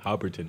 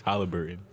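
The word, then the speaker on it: Haliburton: i said it right no you said hobbiton is halliburton that's what's up how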